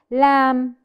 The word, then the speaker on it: lamb: PSI or hi hi lamb lamb Lord Lam which letter is silent perfect it's the letter B the letter B is my silent letter in this word lamb silent okay let's try another